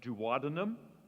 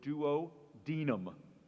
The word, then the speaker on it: duodenum: If you know the human body, you might have heard of the duodenum or the duodenum. It is the shortest and widest part of your small intestine, pronounced duodenum or duodenum.